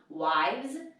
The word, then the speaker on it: wives: If I want to say wives, and you should actually pronounce it differently, you pronounce that V, wives, I'm going to drop that F and that E and add VES.